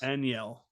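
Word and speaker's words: Enyel: Aniel. There you go. That's how you say it.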